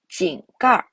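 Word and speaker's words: 井盖: zhè ge yòng zhōng wén jiào jǐng gài 这个用中文叫井盖 This is called a manhole cover in Chinese jǐng gài jǐng gài 井盖井盖 Manhole cover, manhole cover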